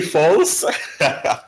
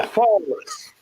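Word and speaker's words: Falk: That's how you pronounce his name, Christian Folks? Did you say false? No, Folks.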